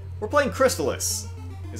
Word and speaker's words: Crystalis: 1997 I mean how about right we're playing crystallis is how you pronounce it yeah although I know some people who call it Chris Tallis that's not how it's pronounced not wrong alright